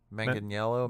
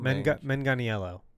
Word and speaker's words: Manganiello: Manganiello. Manganiello.